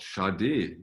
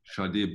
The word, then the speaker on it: Sade: There was a sticker that said pronounced Sade, Sharday, which apparently after all these years is not correct.